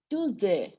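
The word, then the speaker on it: deux heures: So we have seen do, X, do, E-D-E-U-X. The H is not aspirated. So you can do liaison. Dozer. Simple. Dozer. Dozer.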